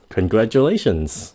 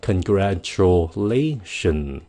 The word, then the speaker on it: congratulations: cấp lên nhiều nhất congratulations cái chữ đ phát âm là Congratulation nha Congratulation xuống giọng congratulations chúc mừng [âm